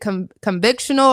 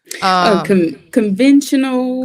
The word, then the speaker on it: conventional: you qualify for the is it convictional or convectional loan? I always say it wrong. Conventional.